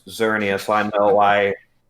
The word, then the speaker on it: Xerneas: name i'm sorry i i legitimately thought his name was geserenius no it that definitely doesn't ring a bell no it's xerneas i know why it's